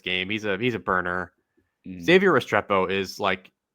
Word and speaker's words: Restrepo: And then the last player I have on this list is Xavier Restrepo. Is that how you say his name, right? Restrepo.